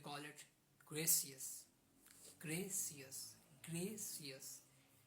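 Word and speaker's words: gracias: यू O thank you Spanish we call it ग्रेसियस ग्रेसियस ग्रेसियस spelling of ग्रेसियस इज जी आर आर ए सी आई एस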